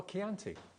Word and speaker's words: Chianti: So it's like, Chianti. Okay. It's like the wine.